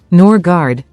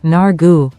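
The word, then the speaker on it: Nørgaard: The former Brentford midfielder told reporters, "I have 2 ways, the English way and the Danish way. Norgard is the English and then Nargu would be the Danish.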